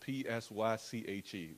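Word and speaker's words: ψυχή: soul is very complex the soul in greek is spelled p-s-y-c-h-e we say psyche but psyche psychology that's the base of psychology that's the basis of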